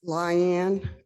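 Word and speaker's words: Lian: you can I ask your name again it's lion l i a n NE you can spell it any way you want thank youan I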